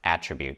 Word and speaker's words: attribute: characteristic that something or someone has and it's pronounced attribute so the verb attribute and the noun attribute